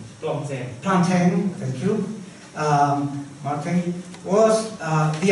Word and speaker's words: Plantin: Christophe Plantin, I don't know how to pronounce his name. Plantin, thank you.